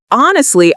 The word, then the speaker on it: honestly: So honestly, I think Chinese food is delicious. So how do we pronounce this? Well, we pronounce honestly by putting the stress on the first syllable.